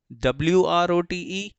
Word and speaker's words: wrote: चाह रहा था कि अगर WR कभी आए तो वहाँ पर याद रखना W का कोई साउंड नहीं लेना है आपको, नो साउंड। W साइलेंट होता है, तो यूं समझ लीजिए कि W लिखा ही नहीं है, तो ROTE रोट नहीं।